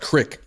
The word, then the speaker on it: creek: And then I realized the word creek is pronounced crick up there.